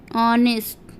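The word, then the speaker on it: honest: के पहले आता है तो वहाँ H का उच्चारण नहीं किया जाता है। चलिए एग्जाम्पल देखते हैं। एग्जाम्पल में हमारा ऑनेस्ट, ऑनेस्ट, ऑनेस्ट, ऑनेस्ट ईमानदार।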